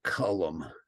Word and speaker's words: culm: who know that uh calm is uh pronounced by the locals as a two-syllable word column but calm service is